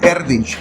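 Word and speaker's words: Erdős: Paul Erdich es es todo un personaje. Se escribe e R d O con dos puntitos encima.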